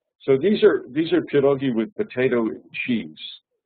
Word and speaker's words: pirogi: people Polish people make when I say pirogi I'm using the Polish pronunciation and not pagi which is the Russian pronunciation and in rusia are